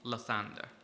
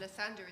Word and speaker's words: Lathander: This appears to be Lathander, god of birth and renewal, currently scattered in pieces around the Astral Sea.